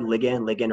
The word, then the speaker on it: ligand: This word ligand or ligand, I've heard it pronounced both ways.